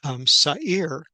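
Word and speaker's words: שָׂעִיר: The goat is a male, and as we unpack this word, we see it is a word that is pronounced Sa'ir.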